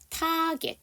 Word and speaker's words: target: 마지막 나와 있는 target라는 단어를 지금 제가 한번 읽어볼 테니까 어떤 게 맞는지 한번 찾아주세요. target 1번, 2번 target 어떤 게 맞아요? 여러분 get로 끝나는 단어는 이 사운드가 에 발음이 아니라 이 발음입니다.